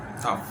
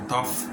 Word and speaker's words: tough: Tough. El de la GH, que se pronuncia como una F, como tough, duro, tough.